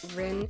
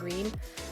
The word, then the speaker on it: Rin: I might go back and forth from saying like Rin and Reen because I'm like used to both. Yeah, those are both two ways that you can pronounce her name.